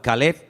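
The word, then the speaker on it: כָּלֵב: Para diferenciar el nombre del perro se pronuncia diferente, pero se escribe igual. Caleb es para el hombre, para un hombre propio.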